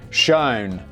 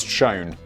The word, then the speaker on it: Schoen: in 1945 by leonard schoen oh great danny now says pronounce shone i'm like thanks daddy you could have mentioned it the first three times uh and his wife